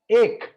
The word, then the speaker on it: ache: Now coming to our pronunciation. Now today you have four words. The first one is एक.